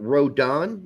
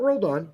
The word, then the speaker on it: Rodon: on the left I'm going to predict it rhodon not rolled on rodon starts there r-o-d-o-n yeah